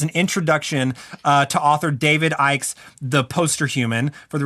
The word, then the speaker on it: Icke: Icke it's AI it's IP okay so it's IC ke David Icke I'm gonna make sure I was